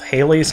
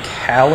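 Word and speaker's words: Halley: by Bill Haley and his comets so we need to go to this Comet and I've heard it pronounced both Haley's Comet and hi's Comet I think hie is more correct but I'm also told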